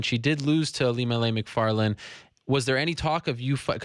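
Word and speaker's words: Macfarlane: Yeah, McFarlane. I saw her fight, and McFarlane, sorry.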